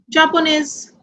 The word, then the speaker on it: Japonais: Here, all these nationalities are ending with S. So we will not pronounce S. As I told you, words ending with S, D and T are silent in masculine and sounds in feminine. So we will pronounce only Français, Chinois, Japonais, Anglais.